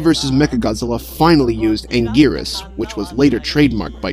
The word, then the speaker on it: Anguirus: Godzilla versus Mecha Godzilla finally used Angirus, which was later trademarked by Tohjo and became his official English name. However, the English dub for Godzilla Final Wars pronounces his name as Anguinus.